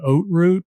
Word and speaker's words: Haute route: hard in that region, probably consider the Haute route, which is spelled Haute. It looks like Haut. The Haute route it translates to the high road, basically the high road of the Alps.